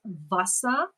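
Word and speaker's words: Wasser: word for water is Vasa Vasa even though it's spelled with a W the toughest for me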